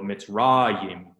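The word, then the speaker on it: מצרים: This is not hirik, yod, mem, so it's not im. This is yod, hirik, mem, yim, or yim. So mitzrayim, which was Egypt.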